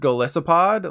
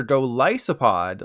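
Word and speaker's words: Golisopod: this it's not pronounced golicipod like lizza with asses but rather go lysopod like a Goliath isopod for those who don't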